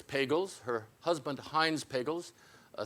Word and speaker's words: Pagels: or soft G it's pagels her husband Hines pagels a theoretical physicist often said pagels rhymes with Bagels Elaine is is the